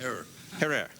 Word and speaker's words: Herer: Have I pronounced it correctly, Jack? Herrera. Herrera. Okay.